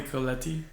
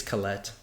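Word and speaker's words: Collette: I think it's Colette. Colette. Whatever. Colette. All right. Two syllables.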